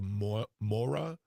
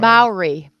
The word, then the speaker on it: Maori: And if you don't know what we're talking about, this is, I want to pronounce it correctly, the Mora or Mora tribe. Maori, the Maori tribe. Maori.